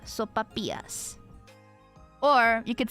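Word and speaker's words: sopapillas: p a p i l l a s soapas or you could say it soap pillis pronounce the L soapas I think it's I think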